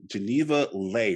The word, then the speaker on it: Geneva Lei: me I'm so excited Yes Man and now pronounced that right I I like to ask make sure I got it right Geneva Lei right yes yes you said my name right